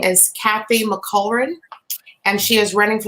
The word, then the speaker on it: Mulkerin: It's Mulkerin. Mulkerin. Oh, I was pronouncing all of the vowels.